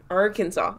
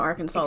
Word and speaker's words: Arkansas: arkansasians actually nobody from arkansas excuse me i am confusion why is it kansas but not arkansas oh yeah isn't it